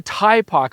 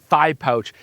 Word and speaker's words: Thypoch: So, this is the Taipok. although I always want to pronounce it thigh pouch Samra 75mm f1.4 a